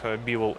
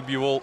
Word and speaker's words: Бивол: но и заставил дмитрий бивол своем выступлении майкла бафера правильно произносить свою фамилию наконец то что до этого баффер ставил ударение на последний слог даже во вчерашнюю на